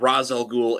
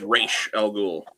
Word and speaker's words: Ra's al Ghul: Because it's not Ra's al Ghul, it's Ra's al Ghul.